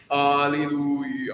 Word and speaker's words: Alleluia: So you pronounce that extra E. It's sort of fun. It's like Louis Louis is what I think of every time. Alleluia, Alleluia.